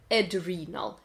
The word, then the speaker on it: adrenal: А надпочечниковый это adrenal. Adrenal glands, например. Как ни странно, adrenaline, but adrenal and renal.